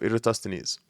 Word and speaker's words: Eratosthenes: Okay, I did pronounce it wrong. So yeah, let's go back here. So it's a sieve of Eratosthenes.